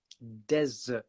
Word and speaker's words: desert: the pronunciation of desert desert so that's d-e-s-e-r-t desert like the Sahara desert but then if you